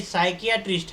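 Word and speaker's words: psychiatrist: हैं और ध्यान दीजिए साइक एटिस की स्पेलिंग में शुरुआत में पी है सभी लोग ध्यान दीजिए अगर उस साइक प्रिस्ट का नाम प्रांजल है तो आप क्या बोलेंगे वेरी गुड नहीं नहीं साइकेट्रिस्ट है वो दिमाग का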